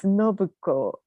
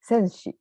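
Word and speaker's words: 選子: First great sign I want to introduce is Nobuko. Yes, Senshi. Senshi or Nobuko. In those days, given names were never pronounced by ordinary people like us. So we read their names in the Chinese own style.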